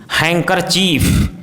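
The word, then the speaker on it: handkerchief: यदि किसी वर्ड में डी जी या एन डी साथ में हो तो डी का उच्चारण साइलेंट होता है, जैसे as, bridge, laser, handsome, grandson, handful, हैंकरचीफ, sandwich, Wednesday.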